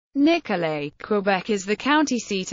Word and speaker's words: Nicolet: The residents of the town pronounced the final T in Nicole.